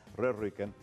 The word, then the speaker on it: Rehrücken: Y esta torta de chocolate llamada Rührücken, pronuncien la U como la U francesa, Rührücken, es uno de esos lingotes de torta de chocolate que son muy apreciados y es muy rico.